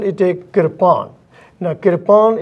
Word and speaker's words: kirpan: Now, Kirpan is a word which has two syllables, Kirpan.